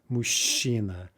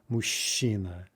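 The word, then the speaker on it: мужчина: head but anyway uh the zh cha there is pronounced sha mushina mushina right the word for what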